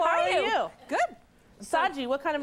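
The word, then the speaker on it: Shaji: Saji, what kind of name is that? Indian. It's a beautiful name. I've never heard it before. How do you spell it? S-H-A-J-I. The H is silent.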